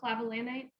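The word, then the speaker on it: clavulanate: from campbell what is clavilanite that is correct clavulinic acid or calavulinite that is a hard word to pronounce but you got it perfect so that is that's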